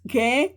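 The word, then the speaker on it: gee: In Igbo is geh nti. Geh nti. Geh is G E E in English.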